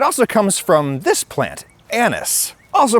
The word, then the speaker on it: anise: It also comes from this plant: anise, also pronounced uh-NEES. It's a word of French origin and uh-NEES is the French pronunciation.